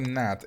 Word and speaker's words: gnat: What is a gnat? It's a word with a silent G.